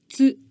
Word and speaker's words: つ: As we saw in the instruction video, in order to make the つ sound, you start from cats and add う at the end and make a syllable. It should sound like キャッツ this is the sound of Japanese.